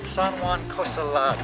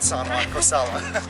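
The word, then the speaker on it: San Juan Cosalá: It's in San Juan Cosala, not San Juan Cosala.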